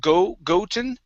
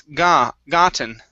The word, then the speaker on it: gotten: Instead of goten, it's gotten. Gotten.